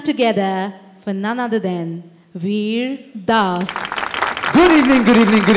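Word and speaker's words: Vir Das: my name properly see my name is very simple it's vas vas Weir Das the entire country of America called me weird ass so it was time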